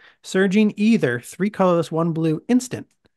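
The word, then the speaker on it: Aether: spell surging either that's AE t h e ER pronounced either as we've discussed mult in multiple episodes of the old Mage MTG podcast sometimes we still screw up and say either but I believe that it's either somebody tell us if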